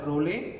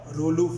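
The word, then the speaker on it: rouleaux: to prevent Ray formation we pronounce it as role or rolu formation it is preventing it because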